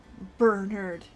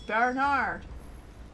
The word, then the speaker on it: Bernard: least I could do Bernard no it's Bernard the French name bonus points if you pronounce it belard which that that's how how you pronounce that bouncy bouncy bouncy sidc